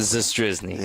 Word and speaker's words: Zastryzny: And you're going to see I never pronounce it. What do you? Zastryzny.